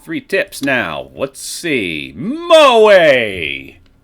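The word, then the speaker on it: 萌え: okay we got three tips now let's see Moe pronounced Moe in otaku culture it refers to feelings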